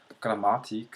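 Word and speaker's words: Grammatik: in German is grammatic emphasis on the second syllable M grammatic so not grammatic um not grammatic uh not on the last syllable and you know you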